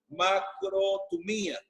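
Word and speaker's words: μακροθυμία: pronuncio bien, pero la palabra en griego se pronuncia macrotumía, que significa paciencia, firmeza, constancia y resistencia.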